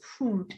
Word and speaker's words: food: Many persons will go food. It's food. It's a long vowel sound.